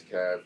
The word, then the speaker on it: Kav: out my name is kav c-a-v very simple to spell it's not cave because the e's gone what's the i remember